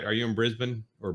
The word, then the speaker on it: Brisbane: from way down under I believe he's from Brisbane or Brisbane as they call it and uh